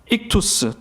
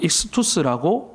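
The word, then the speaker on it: ΙΧΘΥΣ: 여러분 여기에 적혀 있는 단어가 중요한데 단어를 읽으면 익투스 또는 익스투스라고 읽게 됩니다.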